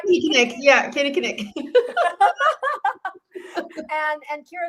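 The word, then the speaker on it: Kinnikinnick: Yeah, Kenny Knick.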